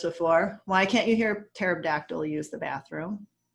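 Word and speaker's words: pterodactyl: why can't you hear terab dactyl use the bathroom because the p is silent um so yeah so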